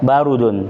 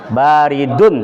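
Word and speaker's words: بارِدٌ: H allabanu ba barudun. Masyaallah. Salah. Baridun. Barodun. Salah. Ba barun. Baridun. Baridun. Pakai dun bukan du ya. Itu kenapa pakai dun? Nakirah. Nakirah. Kalau nakirah ditanwin. Ah.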